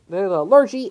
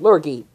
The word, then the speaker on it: Lurgee: or allergy besides well the largie is the mispronunciation so for the full so for this video we're pronouncing as lurgy so let's get started